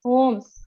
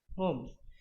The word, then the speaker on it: Holmes: Holmes. L is silent. Holmes.